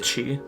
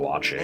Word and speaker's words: Oatchi: Your mission, should you Gotta choose pronounce to it accept Oatchi. repair the damaged rescue corps I thought it was spaceship Owachi.